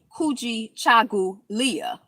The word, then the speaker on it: Kujichagulia: Kuji, Kuji, Cha, Cha, Gu, Gulia, Kujichagulia. Kujichagulia.